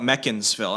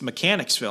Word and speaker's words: Mechanicsville: Well, I mean, if you go there, they call it Meccansville, and I'm like, no, you're mispronouncing it. It's Mechanicsville, and they're like, no, it's Meccansville.